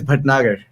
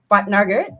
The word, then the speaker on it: Bhatnagar: Yeah, my family name is Bhatnagar. Patnagar? Yeah, Bhatnagar? Bhatnagar.